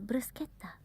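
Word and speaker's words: bruschetta: Well, bruseta. See that C is not double. So I go there. I go over that pretty fast. Bruseta.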